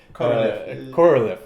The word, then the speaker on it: Korolev: Korolev. Okay. Yeah, it's easy. I'm trying to just switch from Russian pronunciation.